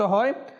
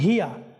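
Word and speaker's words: هي: এগুলো নক করা হচ্ছে আপনি একটু খেয়াল করেন হিয়া হা এখানে কি রয়েছে হিয়া এই হাটা অনেক সময় দুর্বল হয়ে যায় কমতি করে দেই আমরা এরপরে হা এরপর হচ্ছে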